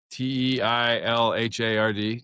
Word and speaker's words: Teilhard: I do, is that the proper way to pronounce the Teilhard? Like t e i l h a r d, Teilhard?